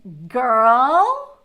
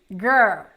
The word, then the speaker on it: girl: These two are super tricky because we have the R and the L together. And that's what makes this word so hard to pronounce, because girl, right? Then you have to put the R.